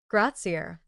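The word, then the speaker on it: grazie: "Gratzier," Antonio pronounced carefully.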